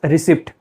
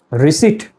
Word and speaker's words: receipt: We see P in this word and we pronounce it or we say it as receipt. Again, this pronunciation is wrong. The correct pronunciation is receipt.